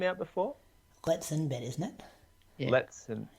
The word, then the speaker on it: Letesenbet: All right, so the International Fair Play Award went to Letesenbet. Letesenbet. Or just Gidey. Gidey. Letesenbet. Has anyone actually read her name out before? Letesenbet, isn't it? Yeah. You're chucking an extra syllable in there.